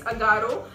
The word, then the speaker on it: Agaro: Amazon is this face steamer by Agaro. I hope I'm pronouncing the brand right. Yeah, it's Agaro.